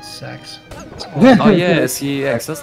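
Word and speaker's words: CeX: more time it is it is spelled c-e-x and everyone calls it sex oh yes that's like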